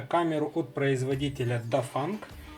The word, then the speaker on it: Dafang: p камеру от производителя до фанк может быть а немножко неправильно его произношу ну как то так он звучит которая также влился в дружную